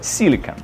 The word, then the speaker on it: silicon: Обратите внимание, без английской «и» на конце. И произносится как «silicon». В слове же «silicone» это «и» на конце есть. И произносится оно как «silicone». «Silicon» и «silicone». Чувствуете разницу?